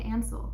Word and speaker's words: Ansel: a crazy person and I'm say ansel like Hansel and Gretel ansel is that crazy